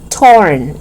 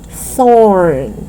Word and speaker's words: thorn: sound right so right so it's thorn thorn and remember it's not torn it's not it's not the sound of t but it's th so you stick out your tongue under your teeth thorn can you say that